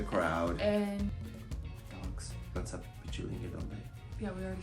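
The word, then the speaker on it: Pichilingue: Pichulingi. Yeah, I said it right. She keeps trying to say Pinchulingi.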